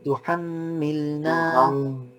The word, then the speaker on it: تحملنا: تحملنا ربنا ولا تحملنا এখানে ফুল গুন্না তুহাম্মিলনা, حملنا ফুল নেজালাইজেশন দিয়ে সাউন্ড বের হবে।